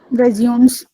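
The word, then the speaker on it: résumé: Maybe it's necessary in few of the resumes. Okay. Sorry, but I would correct you. Resume. Resume. What do you mean by resume? So we pronounce resume as resume.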